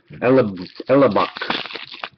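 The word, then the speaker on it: Hellebuyck: Young Guns for the Jets, Connor Elbuick. Elbuick. Ellebuck.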